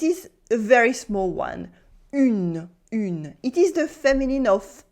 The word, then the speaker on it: une: We can hear the n sound again. Une. Here there is no un sound at all. It is not un, it is une.